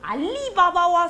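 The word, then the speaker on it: Ali Baba: 한스 앤 그레텔 같은 경우에 그리고 알리바바와 40인의 도둑 알리바바입니다. 강세가 뒤에 바바에 가요.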